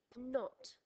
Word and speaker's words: knot: most common spelling KN knot you can tie a knot with a piece of rope you'll notice there is a silent k as in the previous word night not is the most